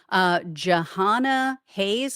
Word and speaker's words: Jahana Hayes: Jahana Hayes, I believe is how you pronounce it, was likely Democratic.